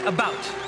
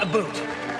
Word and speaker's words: about: And I pronounce it about, not a boot.